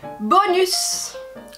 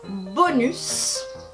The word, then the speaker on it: bonus: Deuxième mot, bonus. Un bonus. En français, on va prononcer le S final et on va aussi mettre l'accent sur la dernière syllabe.